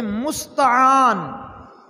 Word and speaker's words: مستعان: میں اسے کہتے ہیں مستعان۔ مستعان، یہ آپ اگر تلفظ دیکھیں تو میم سین تا عین الف آ اور آخر میں نون، مستعان، جس ہستی سے